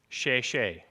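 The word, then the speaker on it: 谢谢: They're pronounced she she, just like it looks, right?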